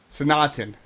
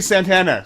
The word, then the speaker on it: Sanatana: So, the A that everyone ignores is actually the last A, not actually the... You ignore the last A in it.